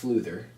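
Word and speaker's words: Flúðir: made our way to flew there which is pronounced Luther which dad did you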